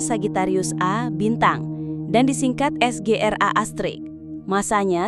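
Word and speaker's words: Sagittarius A*: Diucapkan Sagittarius A bintang dan disingkat SGRA Astrix.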